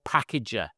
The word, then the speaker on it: Pckgr: And one of these applications that I found is called Packager, but it's spelled PCKG.